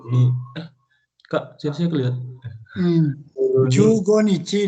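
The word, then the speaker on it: 十五日: Inaba wa taitei hachigatsu juichi sannichi kara juichi goro ni. Kak, saya kelihatan. Jugo nichi dibacanya, bukan juichigo. Juichigo berapa? Jugo nichi.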